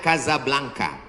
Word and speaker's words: Casablanca: Ibu kotanya tulisannya Casablanca. Cara bacanya Kazablanca.